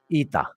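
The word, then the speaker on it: ήτα: I'm talking about because this letter is actually called ITA that's how it's called ITA so that's why here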